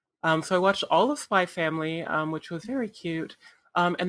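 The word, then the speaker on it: Spy × Family: I also watched all of Spy X Family, or Spy Family, whatever it's called. I usually keep the X silent when it's in the middle.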